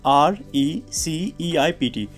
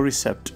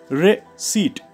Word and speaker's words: receipt: well could you uh read this word it's r e c e i p t okay great now let's pronounce it okay most of the time is what we say we call it like a receptor right because my professional office schools everywhere people